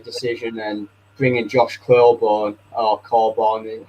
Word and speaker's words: Coburn: And bringing Josh Coburn, or Coburn, how it's pronounced, Coburn on the bench just sums it up, really, doesn't it?